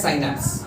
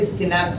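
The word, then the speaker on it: synapse: इस गैप को बोलते हैं साइनैप्स. यू can pronounce it एज टू बी सिनैप्स also, चलेगा. द गैप is called as साइनैप्स. यू can also call it एज सिनैप्स.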